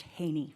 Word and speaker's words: Hedy: registered as Hedy my last name is pronounced Haney oh I don't you've